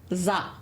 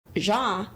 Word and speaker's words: Zha: favorite Philly girl, Coach Zah. Zah or Zah? Zah. Because in Portuguese, a Z and H, it's mute. Zah. So how would you spell Zah? Would it be ZSA? Yes. Like Zsa Zsa Gabor.